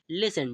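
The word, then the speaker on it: listen: ई एन ठीक है इसे हम क्या पढ़ते हैं इसका उच्चारण जो हो वो क्या होगा ठीक है इसे हम पढ़ेंगे लिसन ठीक है तो लिसन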